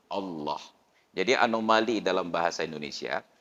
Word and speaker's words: Allah: fasih bertingkat ke Allah padahal Allah itu dia harus tafkhim dibaca harus ada bunyi O nya Allah jadi anomali dalam bahasa